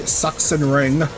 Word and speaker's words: Sachsenring: That's why it's called the suxen ring, even though it's spelled s a x o n y for us.